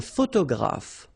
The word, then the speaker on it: photographe: So here, PH, and here, PH, pronounce it like F, photographe. Okay, same thing here. This you don't insist on it. You only pronounce this F at the end. Un photographe.